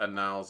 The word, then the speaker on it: annals: The beard tax was confined to the annals of history long ago. That's right, it's pronounced annals, not any other way. Or is it annal? Annal. Important thing is not a long A at the beginning.